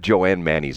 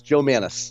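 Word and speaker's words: Jo Mannies: We need to have Joanne Mannies on. Is that how you pronounce her name, Joanne? No, absolutely not. It's Joe Mannies.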